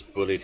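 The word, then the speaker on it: Bulleid: You actually got bullied right there. I I'm never quite sure how it's supposed to be pronounced.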